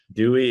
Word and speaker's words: Duey: So Ryan Duey was correct, right? Duey is correct.